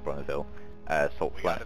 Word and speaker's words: Bonneville: It's based off the Bonneville, I think it's called, pronounced Bonneville, Salt Flats.